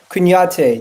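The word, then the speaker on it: Kouyaté: I forget how to pronounce his name. Let me just. Kouyate.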